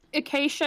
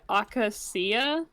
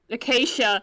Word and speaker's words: acacia: words to be for i think acacia is right i yeah um for years i just said akasia so when you get